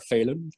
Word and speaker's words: Phelan: of them who are called phelan we pronounce it feeling in ireland but all my cousins in america are failing um including my father's